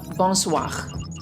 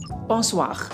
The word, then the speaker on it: bonsoir: say good even in it's a bonsoir bonsoir do you remember letter r we should pronounce sound Bond